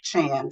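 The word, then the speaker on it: Chan: is it's pronounced Shan it's just spelled like Shan c h an but it's pronounced Shan okay any questions from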